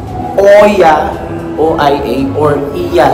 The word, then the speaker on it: Oia: It's called Oya. O-I-A or Iya. Sabi nila, Iya daw yung proper way to pronounce it.